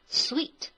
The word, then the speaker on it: suite: And here, master and junior suites means 主卧套间或者说普通套间哈。那么 junior suite 就是普通套间。我们需要特别注意一下 suite 这个单词的发音，OK？ Sweet, sweet 长音哈。Alright, the last sentence is clearly the first choice for both the business and leisure traveler.